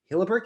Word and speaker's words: Hillebecht: and i am so happy to have hilleberg is that how you pronounce your last yes i was like going